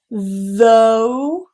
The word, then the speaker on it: though: Now that vowel is a diphthong, so we do say though, okay? And there's no sound after this. It's simply just those two sounds. The voice TH, and then that diphthong O, though.